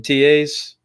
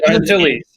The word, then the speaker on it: Antilles: Remember Wedge in TAs? In TAs? Or in Antilles.